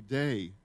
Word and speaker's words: Dei: illustration am a go imago actually day is the proper pronunciation in the Latin the image of God